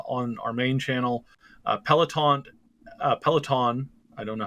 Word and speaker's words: Peloton: before um uh on our main channel uh peloton uh peloton i don't know how to pronounce that yeah it's peloton um has uh now again we covered the